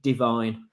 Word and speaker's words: Divine: he's let us know it is pronounced like the word divine so it is Andy